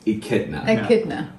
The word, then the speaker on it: echidna: a few comments that people say that i was pronouncing it wrong i said you it's echidna echidna okay look at the